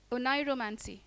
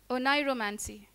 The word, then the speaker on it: oneiromancy: Josephine, your word is oneiromancy. Oneiromancy. Is there an alternative pronunciation? Chief Judge, is there an alternate pronunciation? No, ma'am. No. There's no alternate pronunciation. The word is oneiromancy.